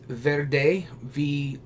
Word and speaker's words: Wrede: And then it's Wrede, because the German W has a V sound.